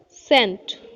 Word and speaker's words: scent: So, here look the first word Caesars, Caesars, scientist, scenery, scent, descent, science, scenic, ascent. Here you know children there are two letter SC but their sound is only S.